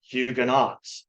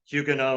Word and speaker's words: Huguenot: were all saying Hugo which is a little closer to the French pronunciation so uh I got into the habit and so you're going to hear me say hugan know and I apologize if